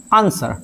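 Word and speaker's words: answer: इसको आंसर नहीं आंसर W silent होता है।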